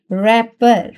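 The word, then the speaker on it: wrapper: तो यहां पर देखें रैपर। रैपर। अब यहां पे डब्ल्यू जो है प्रोनाउंस नहीं हो रहा।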